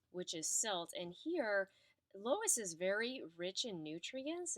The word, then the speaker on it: loess: of what is called loess. And yes, it is pronounced like the woman's name, even though it's not spelled that way.